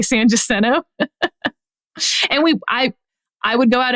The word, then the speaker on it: San Jacinto: You pronounce it Jacinto? Yeah. Okay, that's interesting. Go ahead. San Jacinto. I've always heard it, but that's just me. In Houston, we say San Jacinto.